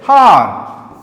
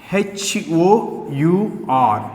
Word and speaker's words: hour: Next, HOUR, H-O-U-R. What comes here? The first letter is silent letters here.